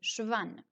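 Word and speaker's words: Schwann: et 2n à la fin mais ça se prononce avec enlevé schwan c'est une cellule qui enveloppe la fièvre et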